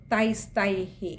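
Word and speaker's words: തൈസ്തൈഃ: ശ്രദ്ധിക്കേണ്ട കാര്യങ്ങൾ കൂടി പറയാം തൈസ്തൈഹി അവിടെയൊരു വിസർഗം ഉള്ളതുകൊണ്ട് തൈസ്തൈഹ് അവിടെയൊരു പകുതി ഹകാരം കൊടുത്ത് വായിക്കുക അടുത്തത് കാമൈരദീനാത്മ അവിടെ രയ്ക്ക്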